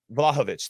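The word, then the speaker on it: Vlahović: uh doosan vlahovic uh is that how you say it i think i was going to put the emphasis on it right yeah yeah vlahovich thank you so so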